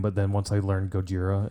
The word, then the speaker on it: Gojira: harcas deaf Haven and gojoria Gojira Gojira oh my God we said their name wrong for so long and now I can't say it because I think we used to call it gajoria oh I don't know